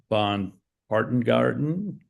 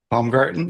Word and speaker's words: Paumgartten: And my guest today is Louise Von Bon Barton Garden. Bombgarten.